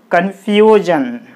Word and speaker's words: confusion: This word is ending with I-O-N. If the word is ending with ion, the stress should be on the second syllable from the last. What is the second syllable from the last? S-I-O-N, gen. This is the first syllable. F-U, few. This is the second syllable. Okay, understand? So, we put the stress mark on the syllable, few.